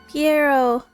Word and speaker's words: Pierro: Pierre. I said I said his name wrong. Pierro.